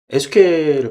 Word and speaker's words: SQL: SQL은 이제 국내에서는 SQL이라고 많이 발음하는데 외국 유튜브 사이트나 뭐 이런데 블로그 같은 거 보면은 SQL이라고 발음하시는 분들도 많이 계십니다. SQL 강의를 진행을 하려면 이 마리아DB, MySQL과 같은 데이터베이스가 필수적으로 설치가 되어 있어야 되는데요.